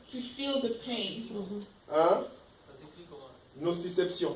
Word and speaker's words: nociception: Nociception, tout avec le C. Nociception, partout ce sont les C.